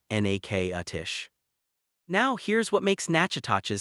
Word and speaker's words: Natchitoches: It's Natchitoches, Louisiana, and it's pronounced n-a-k-a-tish.